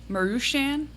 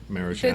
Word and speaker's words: Maruchan: Marushan, I think is how you say it. Oh, they're the worst. No, that's the No. right answer. Maruchan.